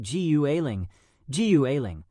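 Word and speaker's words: 谷爱凌: appearance in the pipe by chanting Gu Eiling, which is the Chinese way to say her name.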